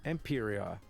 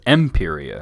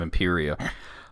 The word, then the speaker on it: Imperia: He says Imperia instead of Imperia. I mean, it is like a made-up fantasy name, so I can understand how you'd say it wrong, but like, come on, there's voice acting. She clearly says Imperia.